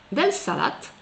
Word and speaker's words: salade: So, we ‘ll say”dès fikes” even if it is written “dès figues”, “salate”, even if it is written “dèl salade”; it makes him “malate” even if it is written “malade”, and so on.